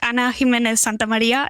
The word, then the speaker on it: Ana Jiménez Santamaría: Could you mind pronouncing it for me? You did, Russ, just perfect. Ana Jiménez Santamaría, it's perfect. Awesome.